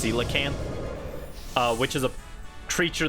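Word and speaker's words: coelacanth: its theme being a colacant or I guess it's technically pronounced cilacanth uh which is a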